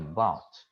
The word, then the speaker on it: bought: A pronúncia aí, bought.